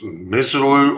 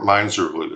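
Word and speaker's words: Misirlou: We're going back to 1962 with Dick Dale, and it's Miserlou or Miserlou. I've heard it pronounced both ways, but it was a big hit for him in the early days of the surf sound, surf music.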